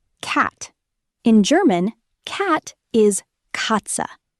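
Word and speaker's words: Katze: Cat is katza. Say it. Katza sounds like catsa.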